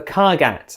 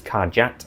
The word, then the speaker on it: Kargat: Next up, the Kargat and the Kargatane. In the past I probably pronounced this Kargat, apologies for that.